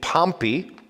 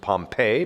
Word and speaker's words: Pompey: comes this guy named pompey we sometimes pronounce him pompeii but pompeii is the official pronunciation of the city in italy pompeii the city that was destroyed by the volcano so pompey comes and